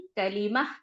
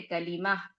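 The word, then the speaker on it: कलिमा: कलीमा, वो ह जो है एच जो लास्ट में आ रहा है, वो हल्का-सा जो है अदा होता है और हल्का साइलेंट रहता है, क्योंकि वो लटकनी वाला हे होता है ना, हा होता है। तो इसीलिए उसको क्या करना है, हल्का प्रोनाउंस करना है, लेकिन उसको कलीमा कहेंगे, कलमा मत कहा करिए, ठीक है?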